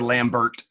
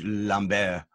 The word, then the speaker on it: Lambert: cambers go man go Christopher Lambert or if you want to follow me it's Christoph Lum bear I wonder if there's